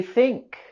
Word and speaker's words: think: In the word think, we have the voiceless th sound. Think. To make this sound, you want to just bite down on your tongue. Think, but don't bite too hard.